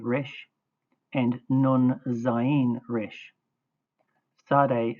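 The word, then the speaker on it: צדי: Sade is pronounced ts as in boots.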